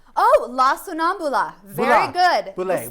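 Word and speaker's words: La Sonnambula: And I want to pronounce it right. Oh, yes. It's called La Sonambule. Oh, La Sonambula.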